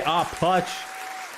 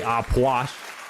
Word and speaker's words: Aplush: I say Aplush. Y'all can say Apwash. However you want to pronounce it.